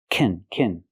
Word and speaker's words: can: If you have a positive statement that includes a verb, it's best to pronounce it kin. Example, I can do it. I can go. If it does not include a verb, then you say can.